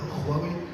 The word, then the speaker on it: Huawei: Alors je termine avec Huawei. Il faut bien prononcer avec un bon Kha chinois.